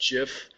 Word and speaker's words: GIF: from a purist perspective it really is pronounced jiff because that's what the creator of it says it's pronounced as and the reason is